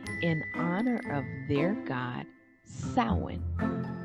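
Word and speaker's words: Samhain: honor of their God sound pronounced sound like a female pig like a sow and it's pretty ironic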